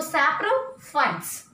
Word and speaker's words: saprophytes: See, it is PH and I am not giving the pronunciation of P, not saprophytes. Wherever the word P and H comes together, we have to give a pronunciation as F pronunciation. So saprophytes, parasites, insectivorous plants.